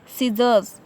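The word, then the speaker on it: scissors: Example देखें, सीजर्स, तो यहाँ पे एस की आवाज़ आई है, सी जो है खामोश है, इसकी आवाज़ नहीं आनी है।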